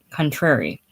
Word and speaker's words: contrary: best described as cont contrary in the sense the word has when it rhymes with Mary life for Mr Lawrence